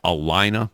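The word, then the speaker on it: Allina: work at the at the clinics that that's Alina that's how you pronounce it is Alina Health System that's right okay the the company's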